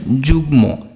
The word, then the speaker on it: যুগ্ম: অর্থাৎ এটা কি বাগ্যী তো আর উচ্চারণ হবে না, কি হবে বাগ্মী। দীর্ঘিকার থাকলে রস্যিকার হয়। যুগ্ম, এটা কি যুগ্ম।